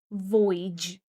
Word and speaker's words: voyage: Voyage. Pay attention that the stress falls on the first syllable and we get void. E voyage.